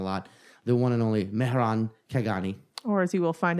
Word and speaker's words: Mehran Khaghani: Well, I would say Mehran Khaghani, right? Okay. But that's because, that's what we figured out. That's what we landed on as an Iranian trying to get Americans to say her name. Right, Otherwise, right. as a kid, it was like Moran, Metron, Megatron.